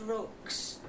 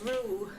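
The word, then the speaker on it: roux: it and I said rocks. So I thought I will find out exactly what it is pronounced and it says ru that that rhymes with moo.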